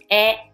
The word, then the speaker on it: へ: for now please just remember that when you see the letter her as a particle so you pronounce e basically if you see the letters ha or hair at the end of the word it's a particle okay so you've learned